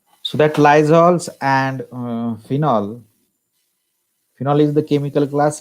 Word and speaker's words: phenol: we are using the Phenol, or we can call it as phenyl also, because it is wrongly pronounced in our settings. It is actually a phenol, but we pronounce it as phenyl, isn't it?